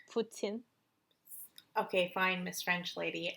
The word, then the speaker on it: poutine: is very very delicious but i think it's pronounced putin okay fine miss french